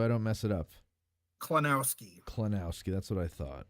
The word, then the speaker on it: Klonowski: yes that's the way to go um Scott pronounce your last name so I don't mess it up kenowski kenowski that's what I thought all right yeah